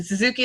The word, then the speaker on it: Suzuki: and the Suzuki like the motorcycle, like you like to say.